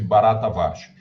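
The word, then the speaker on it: Bharatavarsha: esse eh barata vcha pronuncia-se barata varsha esse barata varsha seria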